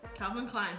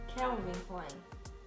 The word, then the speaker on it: Calvin Klein: Calvin Klein, perfeito. Por que que tem gente que fala Kelvin? Kelvin. Kelvin Klein. Tem pessoas que pronunciam Kelvin Klein, não Calvin Klein.